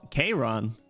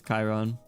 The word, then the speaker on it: Chiron: it wrong oh Chiron I so so KRON I thought it was Chiron I'm not going to